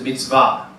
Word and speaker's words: mitzvah: So, in the Hebrew, the original term is mitzvah, emphasis on the last syllable.